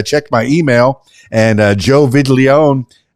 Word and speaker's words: Viglione: As we were preparing for this, I checked my email, and Joe Viglione, I don't know, I pronounce it like it's Italian.